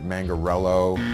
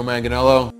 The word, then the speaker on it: Manganiello: Mangarello, Joe Manganiello. It's like, you missed like 10 letters, bro. Hi, I'm Joe Manganiello.